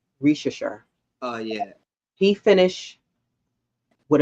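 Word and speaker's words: Risacher: Rishashar? Yeah. It's almost sound like the candy. Rishashar.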